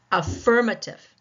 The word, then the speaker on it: affirmative: What about affirmative? Affirmative. Affirmative. Tell by my mouth, right? The second syllable.